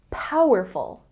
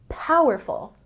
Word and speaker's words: powerful: instead of very strong say powerful with a stress on the first syllable powerful powerful he is very strong